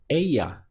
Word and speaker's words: ella: So él would stand for him, él, and ella would be her with the double L pronounced as a Y.